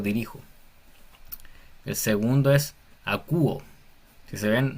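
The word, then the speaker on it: ἀκούω: El segundo es acúo. Si se ven, no estoy diciendo jacuo ni jago porque la coma, la respiración es una respiración suave, no es fuerte, entonces no se pronuncia.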